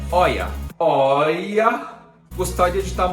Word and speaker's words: Hoya: as rolhas sobre cera na verdade a pronúncia oia oia eu gostaria de